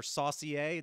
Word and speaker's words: Saunier: I'm here with Greg son depending on who you talk to I tried to give it a French pronunciation or saier according to you EXC uh Mr uh